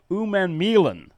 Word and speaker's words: Umanmielen: Theo Grace is a linebacker from North Dakota, and Princewell Umanmielen is the pronunciation.